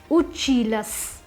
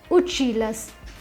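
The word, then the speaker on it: училась: So ya is replaced by the soft sign. So the pronunciation of the feminine form would be uchilas. Masculine form is the feminine form is uchilas.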